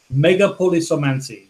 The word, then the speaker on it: megapolisomancy: And it is because he couldn't pronounce it. And it is indeed megapolisomancy, which is a made-up word that might mean like the magic of big cities.